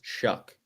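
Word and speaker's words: Shough: It's Tyler Shaw, Louisville quarterback. I believe it's pronounced Shuck for the record.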